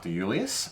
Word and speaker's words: De Iuliis: the hunter Valley called Mike de Julius and hopefully I pronounced that correctly concerning how many eyes there in his last name it is pronounced correctly very good um